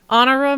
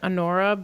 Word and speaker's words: Honorah: And I would have probably pronounced it Anora, but I researched how to pronounce it and it said honora.